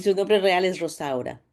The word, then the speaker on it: Rosaura: conoce como Rosa, porque al principio nadie podía pronunciar su nombre, de verdad. Y su nombre real es Rosaura. Rosaura.